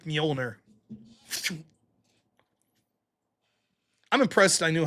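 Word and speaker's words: Mjölnir: El Storm 10 bucks says, "This Friday after work, beer hitting my hand like Mjolnir." I'm impressed I knew how to pronounce Mjolnir.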